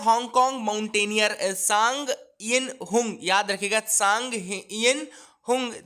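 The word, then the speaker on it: Tsang Yin-hung: तो सांग बोलते हैं, वैसे तो पट्टी साइलेंट रहता है तो हम सांग बोलते हैं, यिन बोलते हैं YIN यिन, और HUNG हुंग, ठीक है ना।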